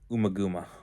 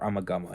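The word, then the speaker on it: Ummagumma: That of course is 1969's Umaguma or Amagama. It's pronounced both ways.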